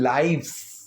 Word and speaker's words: lives: Happy in आवर ओन लाइव्स, LIVES, ठीक है, लाइव्स, यहाँ पर प्रोनाउंसिएशन लाइव्स है, कई जगह लिव्स आ जाती है, दोनों में फ़र्क है, ठीक है।